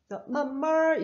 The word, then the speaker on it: 慢慢: 만만吃. 원래 이렇게 형용사, 단음절 형용사를 중첩시키게 되면은 뒤에 성조가 일성으로 바뀌어요. 그리고 얼화음이 돼요. 만말 이렇게 바뀌거든요, 발음이.